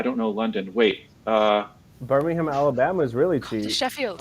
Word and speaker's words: Birmingham: no no no no I think it's probably fine like I think they're the same name but with different accents absolutely so I it's just pronunciation I mean I go beham like yeah oh I'm sure you're Americans you're very busy you don't have time to say all the syllables I guess we say